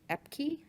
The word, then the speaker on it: Epke: If you did not know, the MDHS current director, Hertel, is leaving, and the interim new director will be Amy Epke, I believe it's pronounced, EPKE.